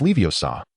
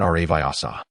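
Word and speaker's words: Leviosa: It's Leiosa, not our viasa.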